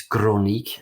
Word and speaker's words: Crooniek: a pronounced it sounds more smooth so it's chronic pronounced in in Dutch but it's also uh it